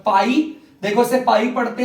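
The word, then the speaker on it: π: बच्चों पाई आर बच्चों ये जो शब्द बना रखा है मैंने ये ना इसे हम प्रोनाउंस करते हैं पाई ठीक है अभी जर्नी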